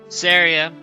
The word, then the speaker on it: Celebi: you how it's pronounced to me syria always made sense because you wouldn't call your friend sorrow you'd call her sarah so if you want